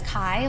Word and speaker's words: chi: I know that's how it looks, but it's chi, like rhymes with bi.